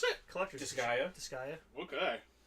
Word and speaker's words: Disgaea: How do you pronounce it? Collector's Disgaea? edition. Disgaea. Okay. How did you think it was pronounced? Decigia.